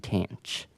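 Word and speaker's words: tanh: However the pronunciations are a little different and instead of the trig function s cosine and tangent um the hyperbolic functions are pronounced as cinch kosh and tanch.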